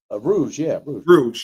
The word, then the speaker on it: Rouge: Rouge? Rouge, yeah.